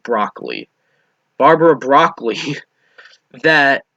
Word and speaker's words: Broccoli: G Wilson and Barbara brocoli I thought that was bi think it's actually pronounced broccoli Barbara broccoli that said